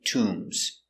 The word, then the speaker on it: tomb: egypt they have many tombs tomb so we make the sound to remember the position is low ooh are there many